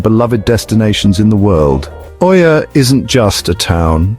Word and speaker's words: Oia: Perched delicately on the rugged cliffs of Santorini's northern tip, the village of Oia, pronounced Ia, is a vision lifted straight from a postcard.